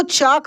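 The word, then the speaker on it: chalk: पढ़ा जाता है चाक देखिए एल साइलेंट रहता है तो ये इसका वर्ड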